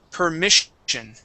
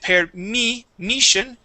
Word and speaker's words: permission: the word permission okay focusing on the short I instead of per uh uh permission it is permission permission okay try that one more time uh you had said per me Mission instead of me we want me permission permission okay